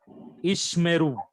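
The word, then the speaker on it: יִשְׁמְרוּ: Then rule number 3, back to back in the middle of the word. First Shiva is silent. Second one is vocal. Say after me. Second one is vocal. Second one is vocal. So pronounce it after me. Ishmeru.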